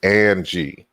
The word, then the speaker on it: Angie: Okay, so she said Angie. That's how you pronounce it. So Angie. So I pronounce it that way because sometimes the J is actually an I in certain languages. So I wasn't sure.